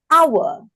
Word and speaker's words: hour: Do you say it as or you say hour? For the word. Ah hour. This H is what we call the silent age. The silent H because you say it as our you got to use the word N.